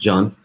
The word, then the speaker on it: Can: um from turkish and is actually pronounced john where i come from um thanks for